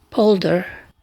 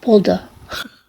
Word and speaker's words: polder: For those who didn't know, polder on polder, okay, in U.S. Pronunciation it's polder. In British pronunciation is polder. There's much difference.